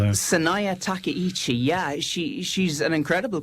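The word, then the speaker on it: Sanae Takaichi: And I'll leave the pronunciation to you. Will you tell us about what the situation is there? Saya Takichi.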